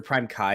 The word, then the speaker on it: PrimeCayes: basically what happened is prime k's or prime kai is how it's actually pronounced but i refuse to pronounce it that way i'm going to say k's because it feels better um prime case was